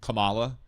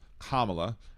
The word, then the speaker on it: Kamala: combination of letters is pronounced Camala instead of Kamala. So maybe that has caused you to uh believe that that her name is pronounced that way. And I'm just going to sit here and tell you, look, I don't think you're a racist for saying it wrong once, but I just want to tell you that her name is pronounced Kamla and that a lot